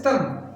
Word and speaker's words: thumb: is thumb one is tum just tum don't pronounce b b is are silent